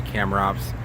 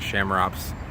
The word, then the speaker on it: Chamaerops: In Latin, it would be Chamaerops. Most people pronounce it Chamaerops.